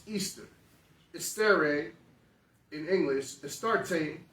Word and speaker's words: Ishtar: of nimrod by Al she was called Ishtar pronounced Easter steroid in English it